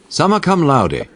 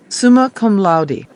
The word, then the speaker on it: summa cum laude: Summa cum laude. Summa cum laude.